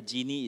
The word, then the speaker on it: Jinny: But the Jinny is not the G-I-N-N-Y, but it's the Jin, J-I-N-N-Y, you know?